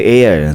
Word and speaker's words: Air: So pinakilala na itong hero at ang tawag sa kanya si Air. So I yung spelling niyan pero air yung sa tamang pronunciation niyan.